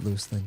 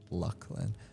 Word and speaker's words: Luclin: I always called it Luclin 2. Apparently it's pronounced Luckland.